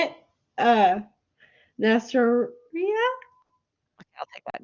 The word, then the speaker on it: Neisseria: Nasseria? Okay, I'll take that. Neisseria.